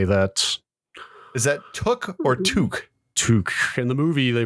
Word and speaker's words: toque: Discord and elsewhere over my pronunciation of to as someone which apparently is in fact toque as someone who has